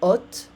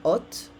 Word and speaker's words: hotte: Une hotte. Again, remember, in French we don't pronounce the H. Une hotte.